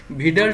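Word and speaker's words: Widal: করতে চাই তাহলে আমাদেরকে ভিড়াল টেস্ট করতে হবে ভিডালটা উচ্চারণ নিয়ে অনেকের অনেক ঝামেলা আমি একসময় এটাকে উইডাল বলতাম তবে ডব্লিউ আই ডি এল এটাকে ভিডাল উচ্চারণ হবে এই জিনিস আমরা এছাড়া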